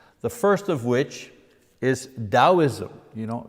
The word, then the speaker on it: Taoism: first of which is Taoism you know you pronounce the T like a D taoism that comes from